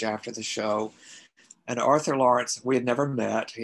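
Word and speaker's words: Laurents: Well, the last name is spelled L-A-U-R-E-N-T-S, Arthur Lawrence.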